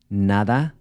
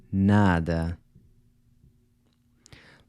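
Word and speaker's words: nada: So whereas in Spanish you would pronounce the final “a” with an /a/ sound as in “na-DA”, in Portuguese you would say “na-dɐ”.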